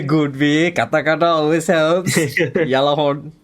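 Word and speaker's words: Gjallarhorn: Apparently the G is silent or something, but Yeah, it works lah. I mean, Japanese pronunciation is different. And Yeah. it's still legit. Because I took it from the Mobile Suit Gundam I'm Blood Orphan. So they pronounce the G. Yararuhorn. But the G is almost silent.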